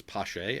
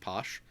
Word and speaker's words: Pache: Today I figured out my mnemonic device for remembering that it's Pache and not Posh, because Pache is like for the A, which is their hashtag.